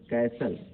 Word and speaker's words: castle: टी, कुछ आम शब्दों में टी साइलेंट, जैसे कैसल, अब CASTLE है ये, जबकि हम पढ़ते क्या हैं, कैसल पढ़ते हैं यानी किला।